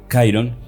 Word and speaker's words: Chiron: infundadas y los aliados, Gadriel y Chiron, o Chiron, sería creo que la pronunciación correcta, de hecho desconfían de